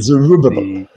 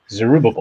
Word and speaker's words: Zerubbabel: Zerubbabel. Zerubbabel. Put so, the emphasis on the ub. Ub. So at the time of Cyrus the Great frees the Jews in Babylon, and yeah, Zerubbabel is the Davidic heir